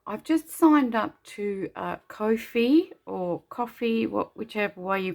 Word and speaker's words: Ko-fi: But also I've just signed up to Ko-fi or Coffee, whichever way you pronounce it. It's Ko -fi, so it's Ko-fi, and well, my link will